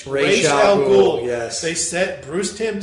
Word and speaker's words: Ra's al Ghul: It's not Raz, it's Ra's al Ghul.